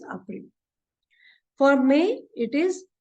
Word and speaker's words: April: Now, if you see, the spelling is exactly the same as in English. But we'll pronounce it as April because A is pronounced as A in German. So it is April.